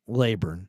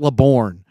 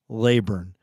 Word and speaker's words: Laborn: watch the Niners this summer look for Kailyn laburn and by the way it's not labourne his dad doesn't want it pronounced Le born his name is Kalyn laburn and he's a tough kid he's a respectful